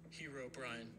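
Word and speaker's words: Herobrine: Hero Brian.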